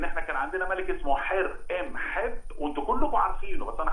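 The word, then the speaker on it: حور محب: حر ام حب ده اللي انتوا بتسموه حرم حب.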